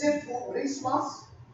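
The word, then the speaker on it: ψιθυρισμός: It comes from a Greek word that's pronounced siphurismas.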